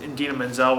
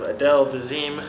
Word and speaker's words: Idina Menzel: different performance introducing her when he mispronounced her name terribly wrong, calling her something along the lines of Adele Dazeem. Yeah, from Idina Menzel to Adele Dazeem.